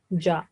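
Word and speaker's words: ج: This is Arabic name is Jim, but when it has fatha, we pronounce it like ja.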